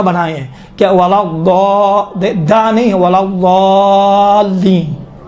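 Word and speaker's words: ولا الضالين: یہ دیکھیں تھوڑا سا موٹا بنائیں. آپ دال کا تصور کریں، دا ولا ضالین، یہ دال کا ہے. خود تصور کریں. ہاں کہا تھا یہ دال کا تلفظ تھوڑا سا موٹا ہوتا ہے. موٹا آپ کس طرح کریں گے؟ ولا ضالین، دال جیسا ہوتا ہے لیکن کاملاً دال کا تلفظ نہیں ہوتا ہے.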